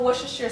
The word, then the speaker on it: Worcestershire: Now you know my love of Worcestershire sauce, and I don't even think I'm saying that right either.